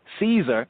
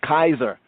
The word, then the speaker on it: Caesar: as a y so we would not have said julius caesar for example right and the c was not pronounced as a s sound we would have said julius kaiser uh-oh julius cazar oh julius kaiser that's how his name would have been said in the time julius julius not julius